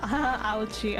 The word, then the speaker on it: Auchi: Is that how you pronounce Auchi? I'm guessing. Oh, ouchie. Okay, I get it.